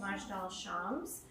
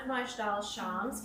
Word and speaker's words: Majdal Shams: an Israeli soccer field in, I believe it's pronounced Majdal Shams. tragically killing 12 children that were playing a game of soccer. The town of Majdal Shams consists almost entirely of Druze, a minority in Israel that's actually flourishing there.